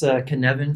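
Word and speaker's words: Cynefin: This Canevin framework, I wanted to make sure to pronounce it that way because it's a Welsh word and it looks nothing like the way it's spelled.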